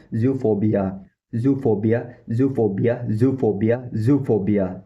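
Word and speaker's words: zoophobia: और professional English language में बोलते हैं जूफोबिया। जूफोबिया जूफोबिया जूफोबिया जूफोबिया।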